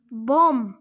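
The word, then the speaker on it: bomb: প্রোনাউনেশন many শব্দ উচ্চারণ অর্থ বি ও এমবি বোম বোম ইয়াতে উচ্চারণ দেওয়া আছে বোম মানে বোমা টিট বিট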